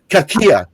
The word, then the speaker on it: Cachia: It's phonetically spelled there. I just thought that was decoration. Cachia.